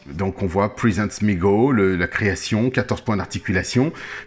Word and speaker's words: MEGO: bien si tu te situes donc ça se prononce et mégots meego donc vont se prononcer m e geo mais